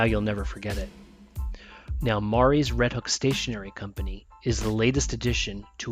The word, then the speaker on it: Mari: This episode, you'll meet my new favorite store owner, new friend, Mari. It's spelled Marie, but as she says, the way to pronounce it is like calamari. Makes it easier to pronounce correctly.